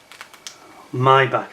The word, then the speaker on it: Maybach: got your maybach engine my back i think is the correct pronunciation but tell me look